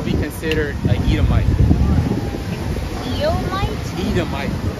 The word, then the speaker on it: Edomite: Edomite. How can you spell that? What is that? E-D-O-M. Right here. So say Edom. Say Edom, and then put the "ite" at the end. Edom. Yeah, Edomite.